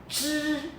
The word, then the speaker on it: zhi: Please roll your tongue. Roll, go back. And then pronounce, follow me. Zhi. When we say we go to the zoo, and it's zhi, zoo.